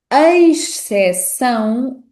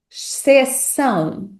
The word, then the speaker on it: exceção: Mas, tipicamente, há duas pronúncias que são mais frequentes. A pronúncia eis para a sequência EX ou simplesmente a pronúncia x para a sequência EX.